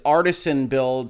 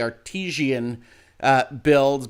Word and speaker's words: Artesian Builds: up to me as me mispronouncing as artisan builds and is actually artesian builds but regardless whatever you